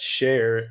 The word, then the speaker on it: Shayr: It's spelled Shayr. And so, just a little context on that: share in Urdu, which is a language spoken all over the world, but native to Pakistan. It means lion.